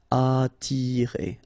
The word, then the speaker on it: attirer: Okay, don't pronounce the double T. You only pronounce this. Attirer.